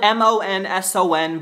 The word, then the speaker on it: Monson: My name is spelled M-O-N-S-O-N, but it is pronounced Monson.